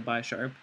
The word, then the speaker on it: Bisharp: I guess Bisharp, because it's supposed to be like a bishop, so Bish instead of Bi.